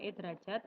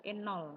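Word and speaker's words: E°: Ini bacanya bukan E derajat melainkan N0 ya.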